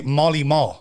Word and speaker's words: Marley Marl: But it's funny how his name is Marley Marl, M-A-R-L. But we would always say Molly Marl.